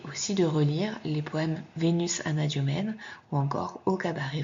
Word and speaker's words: Vénus: Donc au niveau visuel, Vénus est venue, ça se correspond, mais vous entendez bien que à la fin de Vénus, on prononce bien us, et par contre, le S est muet dans venu.